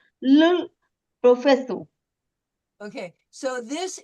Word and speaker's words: professeur: Nous, nous parlons avec le professeur. Professor, very good. That was pretty good. Professeur, professeur, Professeur. professeur, Professeur. Professeur. professeur. This Professeur. This EU is an u. It's a diphthong on one syllable.